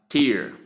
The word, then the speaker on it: tear: These are examples T E A R pronounced as tier.